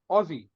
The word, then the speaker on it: Aussie: the Americans are awesome did you say it like Ozzy Osbourne for Black Sabbath Aussie Aussie that's how you say it yeah yeah otherwise